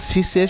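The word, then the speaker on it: six: সাধারণ নিয়ম অনুযায়ী যে যখন সিস অথবা দিস এগুলো আমরা স্বতন্ত্রভাবে কোথাও ব্যবহার করব, যেমন আমরা সংখ্যা গণনা করছি, আমরা 1 থেকে 10 পর্যন্ত গণনা করছি, দো, থোয়া, ক্যাত, এরকম যখন বলছি সেক্ষেত্রে আমাদের সিসের শেষে ইক্স উচ্চারণ হবে সিস।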